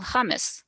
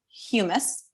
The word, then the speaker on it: humus: And just, I know Manon has a slight accent, so I've always pronounced it humus, where hummus in my mind is spelled with a double M, just throwing it out